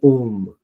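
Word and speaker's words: homme: We don't speak H. Seth Om.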